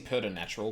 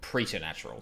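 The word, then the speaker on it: preternatural: hang on a second am I pronouncing per natural correctly no got pretto natural preter natural sorry I've always said per natural for some reason preder natural this looks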